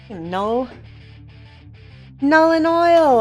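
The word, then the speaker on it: Nuln Oil: N-U-L-N, and I know I'm saying it wrong. It's like Nullen Oil. Everybody says I say it wrong.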